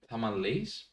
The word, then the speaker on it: tamales: I didn't realize you should read it in Spanish and not in like tamales, right?